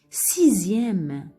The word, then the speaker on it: sixième: Le S ici, pardon, le X, on le prononce ici Z. On va entendre le Z. Par exemple, sixième, sixième, sixième. On entend le Z.